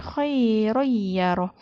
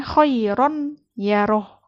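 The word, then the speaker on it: خَيْرًا يَرَهُ: Tanwin di sini ada fathatain, khairoyyaroh. Harusnya kan dibacanya khairon yaroh. Itu kalau bertemu dengan huruf izhar. Tapi karena dia bertemu dengan huruf ya, itu nggak boleh dibaca ron. Karena hukumnya sudah idgham biguna.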